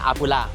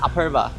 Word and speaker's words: Apurva: Lúc đầu khi nhìn thấy tên, tôi cứ phát âm là Aphupa , nhưng đúng ra là Aphupa.